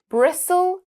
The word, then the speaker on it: bristle: Well, we've got quite a few that rhyme with Okay. whistle, bristle, gristle, and thistle.